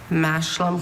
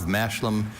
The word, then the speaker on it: mashlum: In Scotland, farmers planted a mixed crop of mashlum, usually oats with either peas or beans, which served as a nutritional food. Mashlum. Schwa in the second syllable.